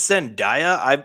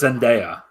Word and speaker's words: Zendaya: and john david washington i'm so sorry it's send daiya or it's independent i don't want to say that i'm pretty sure it's zendaya oh no how do